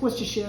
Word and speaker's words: Worcestershire: Then I have 1 teaspoon of anchovy paste, 2 teaspoons of Worcestershire sauce, Worcestershire, however you want, it's Worcestershire is how it's pronounced.